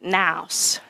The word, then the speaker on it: nous: Well, in Australia, you pronounce it nous. The rest of the world says noose, but whatever, nous.